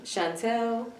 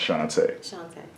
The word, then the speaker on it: Shantá: okay so let me hear you say it shantae how is it spelled s-h-a-n-t-a okay and do